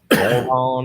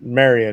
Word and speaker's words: Marion: Moron, Illinois. Moron, Illinois. Yeah. It's Marion. You pronounce it Marion, Illinois.